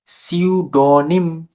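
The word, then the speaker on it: pseudonym: এস একই শব্দ তাহলে এখানে পি সাইলেন্স পুরোপুরিভাবে তাহলে এস ধরবো আমরা এস ইউ টি ও এন ওয়াই এম সিউডনিম see you see you এখানে এখানে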